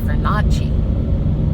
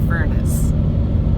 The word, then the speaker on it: Furnace: Although I did He's trying to be, I don't know, French or something, and calls it Fernacci. Fernacci Creek, and it's Furnace.